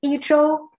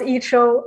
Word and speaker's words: Idro: How do we pronounce your name, Idro? You pronounce it right. It's Idro. Yeah. Idro. Mm-hmm. Yeah, yeah. So how do people often pronounce your name? Are you in Toronto right now? Yes, I am. They usually try to pronounce Icho, and I think that's good enough.